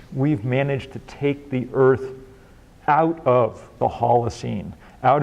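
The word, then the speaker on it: Eaarth: with the extra a you have to kind of Channel your inner Schwarzenegger to pronounce sort of Earth um um and the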